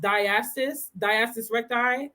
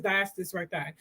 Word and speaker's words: diastasis recti: Some women struggle with, I think it's pronounced diastasis recti. I think it's diastasis recti.